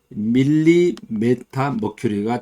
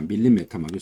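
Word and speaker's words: millimeter of mercury: 그래서 밀리메타 머큐리가 정확한 발음입니다. 밀리메타 머큐리.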